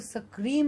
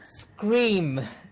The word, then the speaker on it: scream: Sakura but ha so it's not going to be we are not going to secrete anymore yeah scream yes with correct sounds